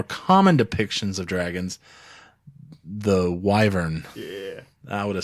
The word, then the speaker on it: wyvern: Actually, it's wyvern.